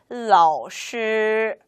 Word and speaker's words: 老师: 老师, 老师 라고 읽으면 됩니다.